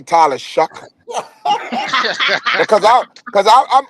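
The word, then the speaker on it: Shough: interview show whatever it it looks like show but his actual pronouncing the pronunciation of his name is Shuck.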